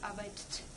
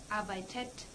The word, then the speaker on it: arbeitet: Then, the er/sie/es would be unpronounceable with two -t's in a row, er/sie/es arbeitt. So, we add an -e here as well, er/sie/es arbeitet.